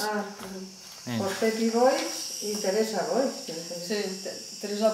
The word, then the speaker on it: Boix: També Boix, però després ja en el temps s'ha donat compte que el pronunciaven mal, perquè igual que diem, per exemple, quan diem l'hort de baix, sí. Està escrit baix, si no diem hort de baix, és baix.